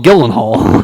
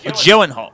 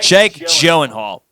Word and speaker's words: Gyllenhaal: yeah and prisoners what the hell did I mispronounce the name again yes Jake Gyllenhaal not Jake Gillen Hall okay okay Jake what the Gyllenhaal joen Hall really that's how you pronounce it yes like